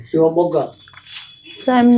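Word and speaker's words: Shivamogga: How do you pronounce it? Shivamoga.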